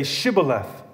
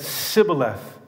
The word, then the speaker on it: Shibboleth: When he said, 'No,' they said to him, 'Then say Shibboleth.' And he said, 'Sibboleth,' for he could not pronounce it right.